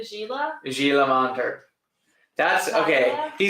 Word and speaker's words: Gila: how expensive it is I like when people from Ohio pronounce gilter with a hard G oh say Gila Gila monter that's okay